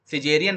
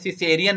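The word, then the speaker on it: Caesarean: सिजेरियन बोलते हैं, सिसेरियन नहीं बोलते, सिजेरियन प्रोनाउंसिएशन में जाएगा, ठीक है।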